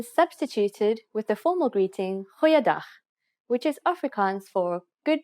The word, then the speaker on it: goeiedag: Goeiedag, ek is Anne-Marie Luck. Aangename kennis. Let's try that again. G. Try pronouncing it from the back of your throat.